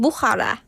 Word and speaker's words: Bukhara: is educational schools in Bukhara. Bukhara? Yeah, but I've noticed that, yeah. I guess, in Uzbekistan, if there's a KH, like in your name, you don't pronounce the K. It's almost like a H.